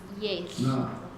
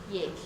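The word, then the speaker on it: Yéil: So it's pronounced THL. So when people ask you about it, it's Yesh. Yesh.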